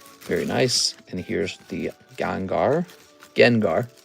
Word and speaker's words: Gengar: And here's the Gengar. Gengar. It's pronounced Gengar.